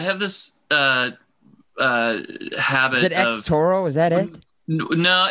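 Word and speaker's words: Xotoro: this uh uh habit x toro is that it no it's just well it's it's so it's next oh it's x-o-t-o-r-o but it's i i pronounce it zotoro yeah because there's a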